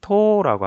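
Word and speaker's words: 十: 10개를 일본어로는 토라고 하거든요. 토. 그래서 토오라고 적혀 있는데 실제 발음은 토오가 아니라 토. 해서 토를 두 박자로 끌어줘요.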